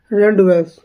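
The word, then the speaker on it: rendezvous: या मिलने का स्थान जिसे बोला जाता है रैंडवस क्या हो जाएगा रैंडवस हो जाएगा क्या हो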